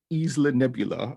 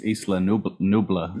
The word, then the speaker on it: Isla Nublar: So the movie starts off on the island of Isla Nebula. I believe that's how you pronounce it. It's probably incorrect. I think it's Isla Nublar. Is it Nublar? It's Nublar, isn't it? Yeah, it is Nublar.